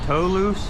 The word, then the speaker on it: Toulouse: Alright, yeah, we're in between Toulouse Street, that's how I pronounce it. T-O-U-L-O-U-S-E, sounds like Toulouse.